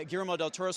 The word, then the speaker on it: Guillermo del Toro: She is in one of my favorite movies of the year, The Shape of Water, directed by the incomparable uh Germo del Toro.